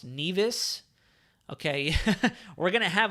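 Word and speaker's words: Nevis: the storm it's pronounced neas okay we're going to have a whole lecture going on in here right now so it's Nas sa kits and neas not nevas I've heard nevas so many times St kits and neas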